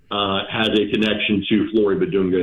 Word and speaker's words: Bidunga: Bidunga.